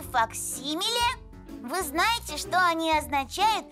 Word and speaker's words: факсимиле: и так первое слово факсимиле ударение на второй слог так называют точную копию рукописи рисунка подписи или чертежа а вот как пишется это сложное слово факсимиле следующее деловое слова договор